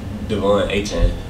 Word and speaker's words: Devon Achane: Devon Achane.